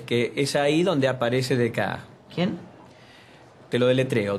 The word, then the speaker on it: Descartes: bien bueno es que es ahí donde aparece dec quién te lo deletreo d e s c a r t e s se pronuncia de K de francés qué abundancia de